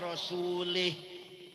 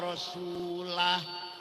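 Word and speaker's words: رسولُه: Wong maca Quran salah. Wa annallaha bari'um minal musyrikin wa rasulih. Allah tidak melindungi orang musyrik dan tidak melindungi Rasulullah. Salah. Yang benar bacanya wa annallaha bari'um minal musyrikin wa rasulah.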